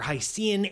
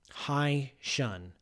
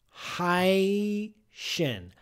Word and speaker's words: Hycean: just can't help it no it's supposed to be pronounced haitian hi shun because h-y-c-e-a-n is a portmanteau of hydrogen ocean high shin hyacin worlds haitian water